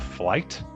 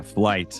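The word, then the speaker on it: Flyte: going to mispronounce it called flight is that I I believe that's that that's correct yeah flight um it has a y in it because the the the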